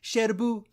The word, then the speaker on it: Cherbourg: umbrellas of Cherbourg is whenever they say Sherbrooke they actually say shadow boo yeah so you're saying